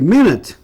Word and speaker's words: minute: Ok, minute, que é minuto. E também ela pode ser um adjetivo, olha que interessante. E como adjetiva, a pronúncia é minute, que quer dizer uma coisa pequena, né?